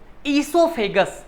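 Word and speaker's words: esophagus: अब देखो, इसके बाद हमारे पास एक और बहुत प्यारा सा टॉपिक है बेटा, ये ईसोफेगस। ओ साइलेंट है, ईसोफेगस पढ़ते हैं इसको हम लोग।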